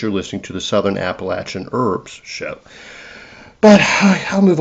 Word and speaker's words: Appalachian: in DC, they don't even know how to pronounce Appalachin. You know, it is Appalachin. It's not Appalachian.